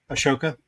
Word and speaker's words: Ahsoka: mean like we reviewed the O was it Ahsoka ahoka how do you say that Nick Asoka yeah yeah we watched that one but even